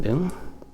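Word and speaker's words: 聞: part of a word shin boom and it's pronounced boom in that case and you can see it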